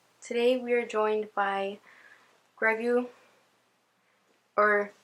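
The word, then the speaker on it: Grogu: we are joined by greu or I'm pretty sure it's pronounced Gru but greu sounds cuter it's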